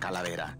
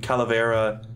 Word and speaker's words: Calavera: It's kind of fun to roll your R's or just do that. I don't even know what to call that. Like the difference between Calavera and Calavera, you know?